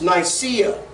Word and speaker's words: Nicaea: finances now landy of what we think is pronounced Nicaea actually if you guys are wearing Nike shoes